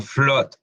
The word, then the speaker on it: flood: Bueno, sus excepciones, como en palabras como blood, que se escribe con una doble O, pero se pronuncia como una O, blood, que es sangre, o flood, que es inundación, también, flood, Flood, inundación, flood, no flood, flood, ¿ok?